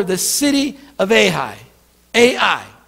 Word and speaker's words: Ai: a slot smaller the city of a high AI it's how you say it ai ai that's